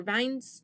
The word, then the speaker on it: Vignes: And yeah, this story follows the Vignes or Vines. It's spelled Vignes, so I'm going to say Vignes.